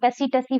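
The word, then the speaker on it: tsetse: तो सेटसी फ्लाई सेट्स फ्लाई बोल लो, टसीटसी फ्लाई बोलो, सीसी फ्लाई बोल लो। अलग-अलग प्रोनाउंसिएशन है इसकी।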